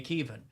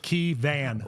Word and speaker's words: Keevan: People pronounce it Keevan, like a van, like a driving van.